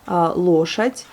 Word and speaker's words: лошадь: Et le D, comme on a déjà vu, qui peut se prononcer des fois comme un T, puisque là, il est ramolli par le signe mou, et on l'entend comme un T, лошадь, mais on écrit un D.